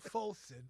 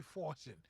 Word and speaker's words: Folson: doesn't compare to mine even my name folsom i still get people saying fortune even when i suppose